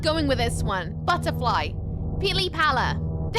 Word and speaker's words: pili pala: Pili Pala. Pili Pala for butterfly. Pili Pala. P-I-L-I-P-A-L-A.